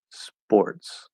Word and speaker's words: sports: It's because we don't want that air. That's why it sounds like a B, because we don't have that force of air from the voiceless P. So if you pronounce it maybe like a light B, sports, spore, then it's okay.